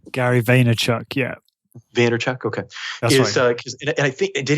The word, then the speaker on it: Gary Vaynerchuk: is it Gary Vaynerchuk is that how you pronounce his name Gary Vaynerchuk yeah theater Chuck okay did he write a